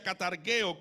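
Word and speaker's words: καταργέω: sujetos a servidumbre destruir aquí en griego se pronuncia catargueo que literalmente tiene las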